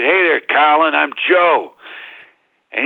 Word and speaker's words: Colin: I only read his name before, and I said, "Hey there, Colin, I'm Joe." And he corrected me, and it said it's pronounced Colin.